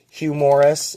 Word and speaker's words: Hugh Morris: Hugh Morris. If you say his name quick, it sounds like humorous.